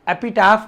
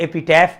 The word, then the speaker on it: epitaph: शिलालेख, एपिटाफ का मतलब, एपिटाफ इसे कई लोग प्रोनाउंस जो करते हैं, कई लोग एपिटाफ करते हैं, कई लोग एपिटैफ करते हैं, ठीक है ना? आप अपने तरीके से इसे, मैं जो प्रोनाउंस करता हूं वो मैं करता हूं एपिटाफ, ठीक है?